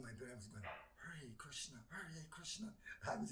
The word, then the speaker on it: Hare: And at the time when I got the card, I didn't even know how to pronounce it, because it's pronounced H-A-R-E.